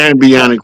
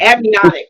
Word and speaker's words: amniotic: Uh, Ambionic fluid. Whatever it is, it's Mhm. amniotic. It's amnia because it's amniocentesis. So it's amniotic fluid.